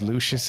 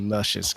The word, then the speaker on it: Lucius: I have to say, I'm glad his name is Lucius, and we haven't been mispronouncing it. And it was actually Luscious, because that would be extra creepy.